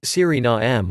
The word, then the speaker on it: Suriname: surinam the pronunciation is siri na m with the main stress on the third syllable and a schwa terminal vowel politics of surinam the